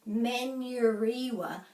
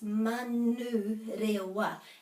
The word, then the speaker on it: Manurewa: And they say Manuriwa, but it's Manurewa.